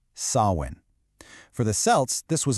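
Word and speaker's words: Samhain: And by the way, it's pronounced sawin.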